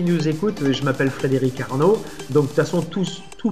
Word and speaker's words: Arno: la fin de Frédéric, et Arnaud, c'est tout simple, ça s'écrit A-R-N-O, exactement comme le fleuve à Florence, en Italie, ville romantique, pays romantique d'ailleurs, de la chanson. Donc voilà, Frédéric Arnaud.